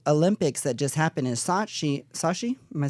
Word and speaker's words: Sochi: So also with this whole Olympics that just happened in Sochi, am I saying it correctly? Sochi, yeah.